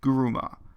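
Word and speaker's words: 車: starts the theatrical performance the first two items of vocabulary both end with a symbol that is level one vocabulary meaning car as kuruma but in this context for both words it's pronounced with the g instead of a k as guruma so we get a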